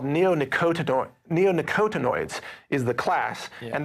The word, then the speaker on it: neonicotinoid: that again well it's in a class called neonicotinoid neonicotinoids is the class and that's just one